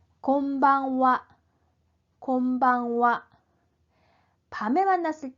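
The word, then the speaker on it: こんばんは: 자, 이 하라고 쓰는 글자는 조사 은, 는의 의미를 가질 때는 와라고 발음을 합니다. 자, 이 낮인사, 밤인사는 건니치와, 오늘 낮에는 어떻습니까? 곤방와, 오늘 밤은 어떻습니까? 이런 문장에서 파생된 인사말이기 때문에 이 조사로서의 와 발음이 그대로 남아 있어요. 그래서 쓰기는 하라고 쓰지만 발음은 와라고 해주셔야 됩니다.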